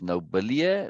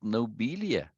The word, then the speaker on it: Nobelia: doesn't matter I mean how do you pronounce this nobody no that would be two else so it has to be pronounced nobelia yeah no Balia no it can't I can't be nobody I sure it has to be nobelia but this is too